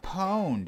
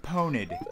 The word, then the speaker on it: Pwned: You're supposed to say it without a syllable. Taking a syllable out would mean that it was originally like poned.